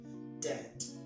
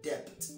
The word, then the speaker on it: debt: could also be the state of owning something dead dead i've heard that word pronounced as depth no the be in the word is silent